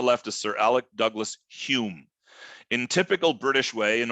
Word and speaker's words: Home: is Sir Alec Douglas Hume in typical British way in order to infuriate You by their eccentricity he spells his name home and he pronounced it Hume when McMillan a tired